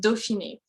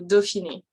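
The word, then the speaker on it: Dauphiné: in there it's pronounced doshini so the au in french gets pronounced as an o french has a lot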